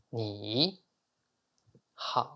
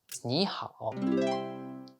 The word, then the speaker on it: 你好: 你 is like ni, 好 is like how, but to pronounce it like a native, making the tone right is the key. 你好 is 你好.